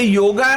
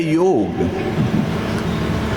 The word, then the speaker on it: योग: कुछ लोग कहते हैं कि भी मेडिटेशन करो तो योग, और अगर हम कुछ आसन करते तो योगा, ऐसा नहीं। वास्तव में प्रोनाउंसिएशन है योग।